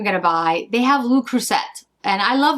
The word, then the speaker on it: Le Creuset: And then the other things I'm going to buy, they have Le Creuset, and I love Le Creuset. Le Creuset, I'm sorry, I don't pronounce the T.